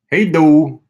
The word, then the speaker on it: hej då: hey though Hey though it's weird that eyes pronoun the letter A is pronounced like oh hey do Thank You